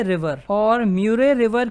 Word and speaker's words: Murray: तो देखिए यहाँ पर एक रिवर है म्यूरे रिवर, ये न्यू साउथ वेल्स और विक्टोरिया का